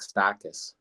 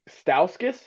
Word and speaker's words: Stauskas: we're gonna go with what pickle is Nick stakis Nick Stauskas that was off God I said that wrong